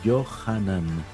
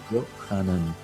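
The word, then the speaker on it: יוחנן: Y es el nombre que en hebreo suena algo así como Yohanan. Yohanan.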